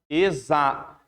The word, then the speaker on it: exato: Exato. Tenta pegar só o finalzinho. Ó. Imunização. Exato. Exato. Zação. Você percebe que tem o mesmo som.